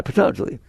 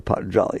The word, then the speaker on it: Patanjali: or something like that, by Patanjali, or Patanjali. It's pronounced different ways, right?